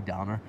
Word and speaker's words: dander: usually called a we dander or are we done or is more often the d is usually dropped in oscar scott's they don't they just pronounce the ends so it's a wee downer along the path and